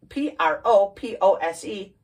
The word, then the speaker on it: propose: okay propose is pronounced p r o p o s e propose emphasis on the second syllable and propose means to